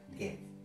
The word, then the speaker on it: Goethe: Se escribe Goethe, pero se pronuncia Goethe.